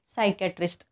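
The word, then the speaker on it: psychiatrist: इथे बघा सायकॅट्रिस्ट आपण सायकॅट्रिस्ट म्हणतो का नाही सायक्याट्रिस्ट हे सगळ्या ठिकाणी पी कसं या पी च्या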